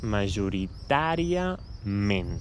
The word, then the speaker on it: majoritàriament: Aquí heu vist aquest accent i potser heu pensat: ostres, l'última E l'he de pronunciar /ə/ perquè no és la tònica, no? Hem quedat que les paraules tenien una síl·laba tònica i hi ha una A amb accent. Si hi ha un accent és segur que és tònica. Però bé, en aquests casos aquestes paraules tenen dues síl·labes tòniques i, per tant, és "majoritàriament", d'acord?